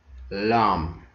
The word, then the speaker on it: lamb: Rule number one: B is not pronounced after M at the end of a word.